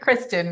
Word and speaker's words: Kristen: And it's actually Kristen, not Christine.